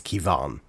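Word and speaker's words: Quivogne: So how it's actually pronounced is is Kievon. Um so so basically because it's uh cuz the Q UI is pronounced like key.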